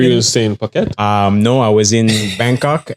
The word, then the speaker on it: Phuket: pronounce it Phuket?